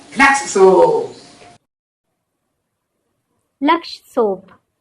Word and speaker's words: लक्ष: Laksh soap. Laksh rhymes with Lux.